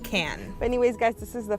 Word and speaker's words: Cannes: matte in the shade it's spelled like cannes but I looked it up as pronounced can anyways guys this is